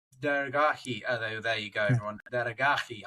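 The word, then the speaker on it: Daragahi: Or Deragi. Deragi. There you go, everyone. Deragi. I pronounced practiced it at least three times before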